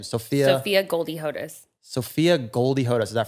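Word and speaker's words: Sophia Goldie Hodes: said that you really safotas is how you pronounce yeah everyone what is your full name sophia sophia goldie hodus sophia goldie hoda is that from goldie hawn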